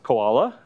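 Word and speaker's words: CWoLa: And so this goes by the name of classification without labels, pronounced koala, and was applied to,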